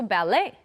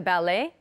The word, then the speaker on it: ballet: pronounce the T also ballet do you like the ballet I love going to the ballet again we don't pronounce the T bere filet ballet okay